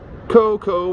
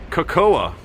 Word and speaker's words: cocoa: is York Coco works Coco Works she is cocoing making chocolate as a kid I used to always pronounce it cocoa because it's spelled cocoa you know when you're